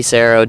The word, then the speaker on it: Saro: you guys and Sarah it's spelled SAR oh and it rhymes with Pharaoh and we're also on